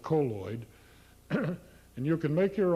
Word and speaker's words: colloid: And we recommend colloid, or colloid, depending on how you pronounce it. The preferred pronunciation is colloid, although most people call it colloid.